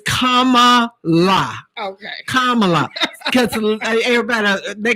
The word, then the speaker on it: Kamala: what my shirt says that's a it says comma la okay kamala because everybody they call that woman